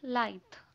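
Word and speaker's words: lithe: Okay, द next we have लाइथ. ठीक है, इसे प्रोनाउंस करना है जैसे कि हम लाइव टेलीकास्ट बोलते हैं ना, तो वैसे ही बोलना है लाइथ.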